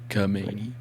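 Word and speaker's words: Khamenei: Ayatollah Ali Kamani. Say it like Kamani.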